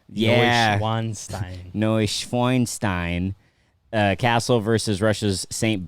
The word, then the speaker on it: Neuschwanstein: Neuschwanstein. Yeah. Neuschwanstein.